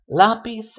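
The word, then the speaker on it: lápiz: so first things first if a word has an accent mark written on it you're going to stress that syllable that vowel that has the accent mark so for example lobby's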